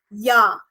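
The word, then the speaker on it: ja: Y in its spelling so if there is word called J A then in English we would read it as J correct but in German language we will actually read it as yah because of the pronunciation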